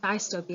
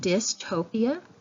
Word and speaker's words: dystopia: not the it's not the long I sound it's not dystopia it's this with this soft eye with a short eye my bad the short vowel sound dystopia and so that has